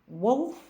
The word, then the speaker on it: wolf: пуш від себе і ще є два слова які просто загубились серед інших слів але мають коротке у у вимові Wolf множина wolз вовк вовки